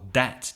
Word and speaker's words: dat: In fact, it's pronounced more dat, D-A-T. They'll say true dat, meaning that's true.